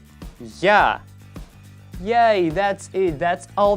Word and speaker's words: Я: It's like yeah.